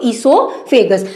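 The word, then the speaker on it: oesophagus: तो यहाँ पे ओ क्या साइलेंट रहेगा, क्या बोलेंगे इसको ईसोफेगस।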